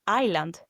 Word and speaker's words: isla: For example, that word isla is written ISLA, isla, but you don't say isla, you pronounce it as E, the double E, isla.